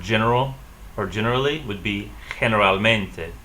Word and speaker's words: generalmente: G in front of E and I, they'll sound like H. So for example, the word general or generally would be generalmente. Pronounce that, generalmente.